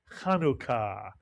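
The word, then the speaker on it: חנוכה: Put the word together and you get the holiday, Chanukah, mitsuyan, Chanukah, 2 syllables.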